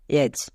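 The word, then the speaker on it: edge: জি ই বসিয়ে দেব এর ফলে আমরা ডি সাইলেন্ট নিজে নিজে পেয়ে যাব কিচ্ছু করার দরকার নেই যেমন দেখো এজ এজ এই শব্দটির শেষে বর্গীয় জো আসে তাহলে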